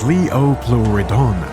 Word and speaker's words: Liopleurodon: The name Liopleurodon, pronounce it like Liopleurodon, which derives from Greek and means smooth-sided teeth, was given to it.